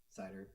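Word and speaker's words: CIDR: the wrong cider sitter block how do y'all pronounce that network people cider thank you yeah i'm a michigander so i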